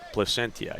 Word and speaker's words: Placentia: Do you know the proper pronunciation of his hometown? He's from Placentia, is he not? Placentia, yes.